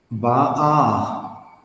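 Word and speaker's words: באה: Ba'a. Slowly, father. Ba. Ba. Very good, sir. A. Ba. All of is silent. So we say ba a.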